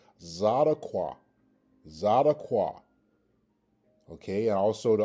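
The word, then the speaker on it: צדקה: Okay, and this again is pronounced Zadaqua. Zadaqua. Okay, and also the alternative pronunciation is Thadaqua.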